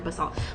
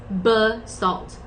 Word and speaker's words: basalt: It's pronounced basalt. Okay. So, I said it the right way. Basalt. All right. Cool. It rhymes with fault basically.